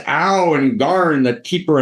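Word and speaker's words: Aoow: But Ow and Garn it's A-O-O-W and Garn, G-A-R-N, which are these particular kind of, thank you, right, Cockney pronunciations. It's Ow and Garn, right, that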